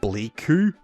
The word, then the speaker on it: Bliku: I believe it is pronounced Bliku. It's spelled like B-L-I-Q-U.